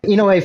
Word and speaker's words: Inoue: It helps to pronounce Japanese names is that every syllable stops at a vowel. So Inoue, 1, 2, 3, 4 syllables technically. And then if you slur them all together, Inoue.